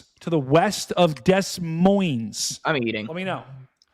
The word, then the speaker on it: Des Moines: It's just Des Moines. How do you pronounce Des Moines?